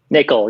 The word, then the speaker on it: Nicoll: today with Matthew Smith and Maxwell is that pronounced Nicole is that correct Nicole yes okay close close close enough I got